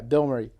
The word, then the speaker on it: Bilmuri: Bill Murray, how do you spell it? Bilmuri. Yeah, Bill Murray.